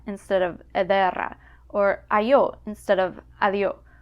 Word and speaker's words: ederra: So don't be surprised if you hear era instead of edera, or ayo instead of adio, or aisu instead of adisu.